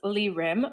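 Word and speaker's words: 이림: i'm saying it is lilim with an l and the problem is that in korean in hangul the l and r sounds come from the same consonant which is called real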